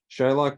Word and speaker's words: Shylock: It is possible that Shakespeare originally intended the name to be pronounced with a short I rather than a long one. In this scenario, the modern pronunciation would have changed because the standard spelling with a Y signifies to readers a long I pronunciation.